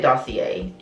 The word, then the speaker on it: dossier: introduce you guys to a dossier that's how you pronounce it because it's a french company so i'm going to say dossier because you know i'm